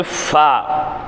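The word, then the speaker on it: ف: அடுத்து ஃபா. ஃபா ஃபா ஃபா ஃபா என்பது எஃப்பினுடைய உச்சரிப்பு.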